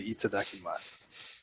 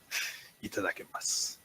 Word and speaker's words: itadakimasu: I say itadakimasu. Oh, In my head. I'm sorry. Take it. Hajime. You got an admirer. Itadakimasu. And I dig it. Is that itadakimasu, not itadakimasu? The U isn't pronounced.